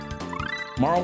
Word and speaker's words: Marle: When I was younger, I said Marley and I was corrected in my adult life as Marl.